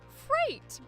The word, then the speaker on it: freight: That rule comes from E-I. Phonetically, those symbols are the sound A. A, as in say, as in 8.